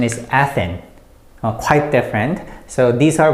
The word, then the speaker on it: 아테네: So usually A is pronounced as A, so we use A, and TH and T all sound the same in Korean, so it's Te.